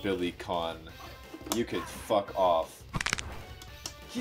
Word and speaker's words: Billy Kane: Oh shit, Billy Kane. No way, it's pronounced Billy Kahn.